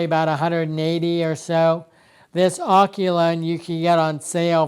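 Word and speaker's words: AOCHUAN: review of my Aochaun, which is the way I'm going to pronounce it. It's A-O-C-H, I think it's A-U-N. Okay, coming in, this is the Aochaun gimbal, and I'll just, for argument's sake, I'll just pronounce it that way.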